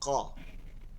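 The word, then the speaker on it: ق: হলকের শেষ তালু থেকে তালু থেকে হলকের শেষ থেকে শুরু করে তালুতে বাড়ি দিয়ে উচ্চারণ করতে হবে এটার মধ্যে একটা ভারী উচ্চারণ থাকবে কফ কফ কফ কফ কফ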